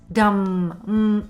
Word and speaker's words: dumb: Just for you to make sure you understand this dumb sound, when M and B are together, we usually don't pronounce B at the end.